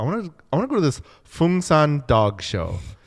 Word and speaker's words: Phungsan: okay, so Fungsan is spelled Phungsan, the national dog among the Korean people.